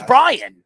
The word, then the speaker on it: Brayan: I know it's Brian. That's how it's spelled. Who cares? It's Brian.